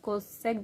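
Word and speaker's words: cos: वो किसका रेसिप्रोकल है, वो है कोसाइन का रेसिप्रोकल, ठीक है। कोसाइन की शॉर्ट फॉर्म कोस हम इसे प्रोनाउंस करेंगे, कोस थीटा के इक्वल हो जाएगा।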